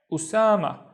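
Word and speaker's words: أسامة: The first syllable is u, so Hamza with dhamma, u, and then sa, and then ma, which is my name. Osamah, so ismi, Osamah, my name is Osamah.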